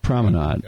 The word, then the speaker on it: promenade: Promenade. I actually did AI search on the proper pronunciation, and it's either way is proper. It says depending on the geography of where you're from.